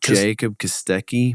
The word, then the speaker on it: Kostecki: Jacob Kostecki.